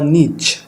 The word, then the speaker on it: niche: আপনার টিশার্ট বিজনেসের জন্য কিভাবে নিশ রিসার্চ করবেন আমরা সেগুলো নিয়ে আজকে কথা বলব ইনশআল্লাহ। সো নিশ বা নিচ দুভাবে উচ্চারণ হয়ে থাকে। আমরা টিউটোরিয়ালে নিশ বলব।